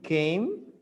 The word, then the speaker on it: came: had the same pronunciation came you don't pronounce the e so it's one syllable came but you have